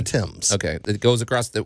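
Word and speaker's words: Thames: London sorry always mispronounce is it the Tims River the TS cuz it looks like fam it's not the fames it's the Tims okay it goes across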